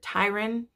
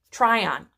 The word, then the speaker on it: Tryon: he tricks Lord Tyron I really should say his name right Tryon Lord Tryon I'm sorry